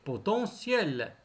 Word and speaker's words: potentiel: matériel matériel potentiel potentiel est toujours le thé se prononcer potentiel maintenant le son l